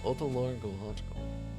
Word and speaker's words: otological: it's pronounced gotcha gical otological not AO it's Oto very well begin your